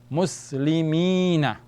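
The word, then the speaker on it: مسلمين: But with the ya, it is being lengthened. So then we will say mi. Instead of mi, we go long. Mi. So muslimi. And noon fatha is na. Muslimina. Muslimina.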